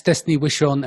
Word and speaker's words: Destaney Wishon: Yeah, and that's Destaney Wishon, and it's spelled Destaney.